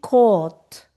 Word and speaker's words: caught: So the past is caught. Catch. Caught. Caught. Yeah. We are the pronunciation. The spelling and the pronunciation have nothing to do like catch. Yes. C. Caught. Yeah. Okay. Cot Okay.